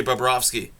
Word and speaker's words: Bobrovsky: sergey bobrovsky i um i always managed to pronounce that one right because it sounds like a name you'd hear on south park so sergey babrowski three for three for